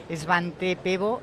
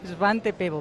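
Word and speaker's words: Svante Pääbo: Y vamos a hablar con él del eh del premio Esvante Pebo. Lo primero que le voy a preguntar es si estoy pronunciando bien el nombre. Muy bien, perfectamente, como si fuera sueca. Gracias, Svante Pebo.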